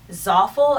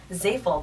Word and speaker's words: Zaful: So if you guys are looking to shop from Zoffel, as I like to call it, I'm pretty sure it's pronounced Zafel, but I'm going to rhyme it with awful because it sucks.